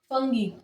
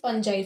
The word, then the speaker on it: fungi: आपको एक बात बताऊं, मोस्ट ऑफ द स्टूडेंट्स क्या बोलते हैं इसे फंगी। फंगी इसका प्रोनाउंसिएशन सही नहीं है। The right pronunciation is फंजाई। फंजाई हम बोलेंगे।